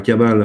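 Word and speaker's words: Cabale: Kabbale, elle s'écrit C-A-B-A-L-E, par opposition à la Kabbalah, qui s'écrit avec un K. Et c'est effectivement ce que tu disais tout à l'heure, Jean-Pierre, il faut distinguer les deux, évidemment, mais ça se prononce de la même façon, donc on est obligé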